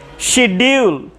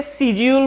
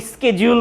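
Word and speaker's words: schedule: আবার বলতেছি, তুমি সিজিউলও বলতে পারো, যদি ব্রিটিশ উচ্চারণ তোমার পছন্দ হয় তাহলে সেক্ষেত্রে তুমি সিজিউল বলবে, ঠিক আছে? আর যদি আমেরিকান উচ্চারণ পছন্দ হয় তাহলে স্কেজুল।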